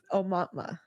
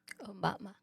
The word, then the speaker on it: Aumatma: Yes, it's Aumatma. Aumatma.